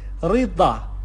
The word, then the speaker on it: رضا: گفتیم در واقع زاد به صورت د، د تلفظ میشه، د، د. دی که در واقع خب این مقداری قوی تر از د توی فارسی گفته میشه، د، ض، ض.